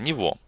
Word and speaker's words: Niveau: употребляется в немецком языке пишется оно не совсем по-немецки Из какого точно языка я не могу сказать из фго Как видите Здесь много букв но тем не менее произносится очень кратко нево таким образом Мы соединили